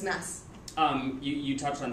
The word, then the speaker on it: Mads: doesn't work no no the D is silent so it's mess um you you touched